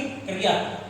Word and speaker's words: क्रिया: अब देखिए क्रिया, क्रिया यानी हमारा देखिए कै आधा और री और या, इसका उच्चारण आप इसी प्रकार करोगे, क्रिया। ठीक है ना, क्रिया।